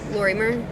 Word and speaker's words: Lorimer: Lorimer? Like Lori, Lori, and then M-E-R. Lorimer?